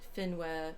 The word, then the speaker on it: Finwë: According to Tolkien's pronunciation guide, E's are pronounced as in were, so I'm trying to say Finwë, Manwë, Olme, Fëanor.